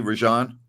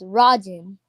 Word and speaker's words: Rajin: Are we pronouncing your first name correctly, Rajan? No, it's Rajin.